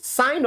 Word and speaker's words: sine: n are you getting it now we Now Pronounce it as what sign of an angle that is sine Theta what's